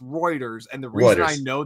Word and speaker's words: Reuters: Uh, anyways, uh, so actually, um, so funny note, it's, uh, pronounced Reuters.